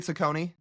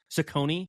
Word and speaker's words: Cecconi: The Miami kid, Cashone? Slade Cecconi. Cecconi, yeah.